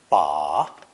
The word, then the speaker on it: 把: It's pronounced third tone. Ba, ba.